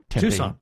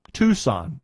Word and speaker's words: Tucson: weekend and he this Tucson Tucson yes in Tucson Tucson well it's an Arizona City again for the tea and it has two syllables huh I mean anybody